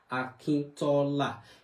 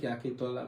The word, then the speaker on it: Akintola: Akintola. A lot of people do mispronounce the name as Akintola. No, it's not. My own is not Akintola, like the Ladoke Akintola. My name is Akintola.